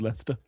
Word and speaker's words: Leicester: I'm pretty sure that they just do it because Jester rhymes with Lester.